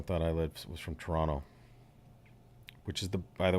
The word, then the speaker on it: Toronto: there this summer that's the way you say the city's name if you're real Canadian okay Toronto none of the Toronto stuff it's Toronto yeah the the second T is swallow exactly it is silent Toronto Toronto yeah Toronto